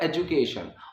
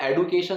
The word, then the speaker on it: education: ये बताया था कि इस वर्ड की जो प्रोनाउंसिएशन है वो है एजुकेशन, और आजकल जो चल रही है कई जगह सुनने में आ रही है वो एडुकेशन सुनने में आ रही है, एडुकेशन। तो मैंने ये बोला कि भाई एडुकेशन, एडुकेट, ये गलत है।